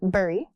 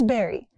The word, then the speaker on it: bury: Often missed like bury. It's bury.